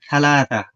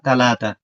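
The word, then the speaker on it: ثلاثة: আপনি উচ্চারণ এভাবেও করতে পারেন, থালাতা, থালাতা অথবা তালাতা মানে হচ্ছে তিন।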